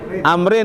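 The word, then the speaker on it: عمرو: Kalau ada wawunya bukan Umar, dibacanya Amr.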